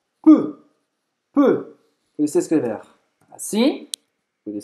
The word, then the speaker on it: peu: Peu. Então você vai fazer a boca do O fechado e vai falar E, certo? Peu. Boca do O, fala E.